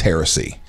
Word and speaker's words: heresy: Hearsay. I think that's what it's pronounced. Is it heresy? It's heresy.